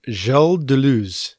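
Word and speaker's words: Deleuze: uh this thinker uh Delo is that how you pronounce that yeah I think the audiobook narrator said jel du but I'm not French enough to do it that way so we'll just call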